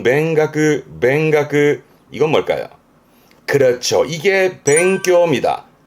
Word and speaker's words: 勉学: 발음은 뱅가그.